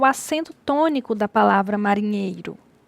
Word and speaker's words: marinheiro: Qual é a mais forte? Então, temos marinheiro.